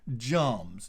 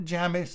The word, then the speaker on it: Jamis: to an n but in this case where you have the m in the middle of the word followed by is it's pronounced jarms all right so you